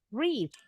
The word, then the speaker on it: wreath: Silent W. Yang wreath ke-6. Oke, bacanya wreath.